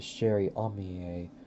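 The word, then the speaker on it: Chère-amie: here's the thing though i do not know how to pronounce the name of this gun but i've heard a person call it the sherry amiye so i think that may actually be the pronunciation but the sherry omiye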